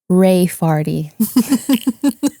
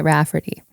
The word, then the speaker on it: Raefarty: Ray Farty. But she was pronouncing it Rafferty.